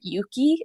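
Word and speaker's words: Euki: couple of apps that store data locally are Yuki it's spelled euk Ki and drip but I'm recommending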